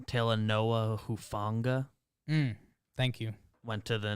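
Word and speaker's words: Talanoa Hufanga: trying to find a thing um it is pronounced tala noah who funga thank you went to the niners uh website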